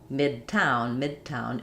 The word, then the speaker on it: Midtown: So when D is in the middle of words, if it's followed by a consonant like Midwest, Midtown, it's going to be unreleased.